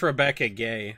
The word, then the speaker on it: Rebecca Guay: I believe it's pronounced Rebecca Gay. It is. I've been told both ways. I used to pronounce it Guay.